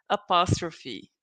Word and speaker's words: apostrophe: So when you show possession, you are also going to use the apostrophe, right? And something important, coming back to the pronunciation, don't forget to pronounce the E at the end.